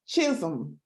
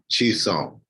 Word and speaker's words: Chisom: It's been a good little minute, but I'm happy to have, let me pronounce it again, Chisom. It's close. Chisom, but Okay, say it again. like that. Chisom.